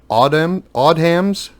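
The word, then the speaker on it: Odhams: Titles published by, I believe it's pronounced Odham's Press, that included licensed Marvel Comics reprints for the UK market.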